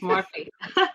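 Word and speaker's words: Morphy: And then we're going to talk about a great state park, Morphe Park, right? Did I pronounce that right? Yes, Morphe.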